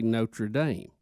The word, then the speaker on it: Notre Dame: I I didn't this How do they say it? Notradam. Notredam. Notredam. Not. Not. And then when when we had the Catholic College, the one in America in Indiana, we say Notre Dame.